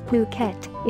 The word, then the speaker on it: Phuket: worldwide the beautiful tropical island of Phuket fortunately pronounced as Phuket is frequently and justifiably